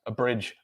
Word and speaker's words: abridge: And that is because the stressed syllable is on the second syllable. So the pronunciation of the letter A in each of these words is which is the schwa sound, in the word apple,